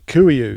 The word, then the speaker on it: Kuiu: So I run it's the Kuiu.